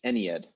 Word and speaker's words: Ennead: It's Ennead is the way it's normally pronounced, and Ennead is the. These pronunciations are all sort of what's the word I'm looking for here? They're conventional. They're like conventions of English language scholarship, but we generally say Ennead and Ennead.